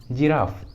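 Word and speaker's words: giraffe: और एग्जाम्पल देखिए जिराफ, जिराफ इस इंग्लिश वर्ड में जी के बाद है आई तो रूल के अनुसार जी का उच्चारण होगा ज, इसलिए उच्चारण होगा जिराफ, जिराफ।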